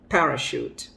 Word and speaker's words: parachute: no chauffeur he is a chauffeur shoot shoot parachute parachute it's not parachute now parachute brochure brochure